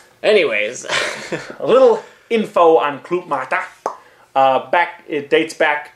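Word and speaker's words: Club-Mate: you win it uh little info on CL mat cuz it's not pronounced Club mate it's a difficult one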